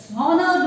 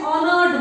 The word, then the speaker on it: honored: So here, children, though the words are starting with H, like honest or honored, these are starting with H, but H is silent.